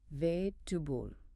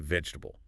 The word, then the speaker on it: vegetable: And vegetable. Vegetable. So again, the learner is listening for four distinct vowel sounds in vegetable. They hear vegetable.